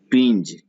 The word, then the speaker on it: twinge: ट्विंज, ट्विंज, ट्विंग नहीं, TWINGE, ट्विंग नहीं, ट्विंज, ज रहेगा लास्ट में।